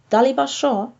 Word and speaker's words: শ: Taliba Sho, this letter is pronounced like in sh in English, in show.